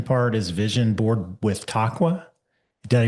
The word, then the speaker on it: Taqwa: Yeah, you you mentioned here you call this uh part of the spiritual intention part is vision board with taqua. Did I mispronounce that horribly?